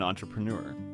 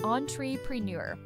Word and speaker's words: entrepreneur: So, he became an entrepreneur. Let's practice the pronunciation of that word because it is tricky. It is French in origin. Entrepreneur.